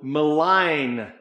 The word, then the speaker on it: malign: be people who will malign the G is silent but they will malign you it's it's talking